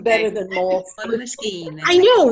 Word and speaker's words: Moleskine: In the art world, we call those moleskina. Oh, is it? Yes. Moleskine. I don't think I've ever heard like it that. pronounced out loud. Sounds Italian.